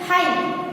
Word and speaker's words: high: Okay, G और H दोनों same here, HIGH है लेकिन उसको हम बोलेंगे क्या, हाई, GH नहीं बोलेंगे, सो GH भी यहाँ पे भी GH है वो साइलेंट है। DOUBT यानी डाउट, ब है ऐसा हम बोलेंगे, लेकिन ब डाउट नहीं बोलना है, हम कैसा बोलेंगे डाउट, डाउट। इसीलिए बी है वो यहाँ पे साइलेंट है।